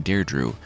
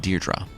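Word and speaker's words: Deirdre: make another appearance like the woman I was calling dared Drew remember she died in The Chariot her name is actually pronounced deerra the man I was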